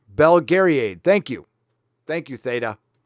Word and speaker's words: Belgariad: ] boomer okay boomer it's pronounced okay Bell Gary aid belgariad thank you Thank You